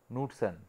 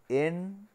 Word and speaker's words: Knudsen: The actual, what is the pronunciation of this Knudsen? It is, the pronunciation is Knudsen, not Knudsen, it is Knudsen cell, like our Choralsky.